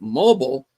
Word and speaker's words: Mobile: Sarah says something about catching Gabriel Singer in Mobile, Alabama. She pronounces it mobile, but as every Southerner knows, it's pronounced Mobile.